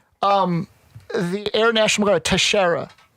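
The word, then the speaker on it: Teixeira: the Air National Guard Tashara I believe is how you properly pronounce his name he was the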